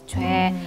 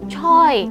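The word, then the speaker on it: 최: Chwe But, in the office, he was called as Mr. Choi This 'Chwe' makes me confuse also If it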